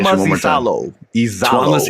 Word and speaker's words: Iisalo: Give me the pronunciation Tuomas one more time. Iisalo. Tuomas Iisalo.